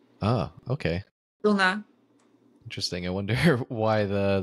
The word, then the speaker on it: Duna: at home I mean in Hungary we say Duna oh okay Duna interesting I wonder why